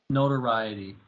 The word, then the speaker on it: notoriety: how do you say that which one n-o-t-o-r-i-t-y notoriety not variety that's right so i was afraid